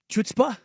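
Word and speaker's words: chutzpah: character and more like chutzpa than in that 30 minutes than I've ever seen I believe it's pronounced you got to get a good you know throat thing in there it it was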